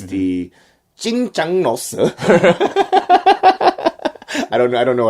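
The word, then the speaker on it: 짜장면: It's the Jjajangmyun.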